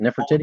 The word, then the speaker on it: Nefertiti: Nefertiti.